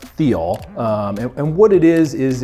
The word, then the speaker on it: thiol: it looks like they're all but it's actually pronounced Theo and what it is is it's a a